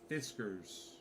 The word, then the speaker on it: Fiskars: stay nice and tight Fiskars it sounds like whiskers but it's spelled with an F Histories and it's a